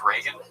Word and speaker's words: Reagan: So I found the "you want to impress white people" part most interesting because you mispronounced Reagan. You're like, I like Regan.